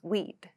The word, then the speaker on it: we'd: the reduced form of we would we would becomes weed weed weed weed like steak weed like steak so this is a polite